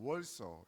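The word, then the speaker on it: Warsaw: 그래서 수도는 바르샤바인데 이제 영어식 발음은 뭐냐면은 W를 영어식을 이제 우로 발음하잖아요. 월소 이렇게 발음해요.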